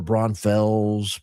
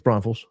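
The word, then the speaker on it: Braunfels: I don't know why people were saying it wrong. People were People were Bronfells. Bron I mean, they sounded ludicrous. It's Bronals.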